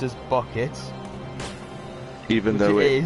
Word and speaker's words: Bucket: Yeah, she doesn't like her name being pronounced as Bucket. Even Which though it it is. really It's is pronounced bouquet.